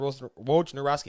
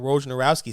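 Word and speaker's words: Wojnarowski: w Nas uh ESPN's Adrian ro ro naski I'm gonna say it right ESPN's Adrien Ro narowski said during his report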